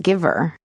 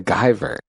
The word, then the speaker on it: Guyver: It's I think it's pronounced Giver. No, The Guyver.